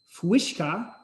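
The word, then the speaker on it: uisce: So over the years, the Irish equivalent morphed to Fuishka, which is spelled a lot differently than you might say it.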